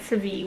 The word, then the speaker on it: Seville: I actually want to look up the actual pronunciation because I've been calling it Seville, which I don't think is correct.